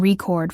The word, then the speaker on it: record: That includes things like word stress, knowing that we say record for the noun and record for the verb.